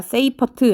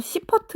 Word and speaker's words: 세이퍼트: 세이퍼트 은하. 세이퍼트 은하. 영어 발음 표현에 따라서 시퍼트 은하라고도 부르거든요.